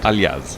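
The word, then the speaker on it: Aljaž: And BEDENE's first name is Ayaz? How do you say it? Aljas.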